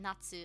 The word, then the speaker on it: 夏: Natsu. 夏 Nats. You didn't pronounce the U. Do you not need to? I know you don't need to pronounce the U on the end of this.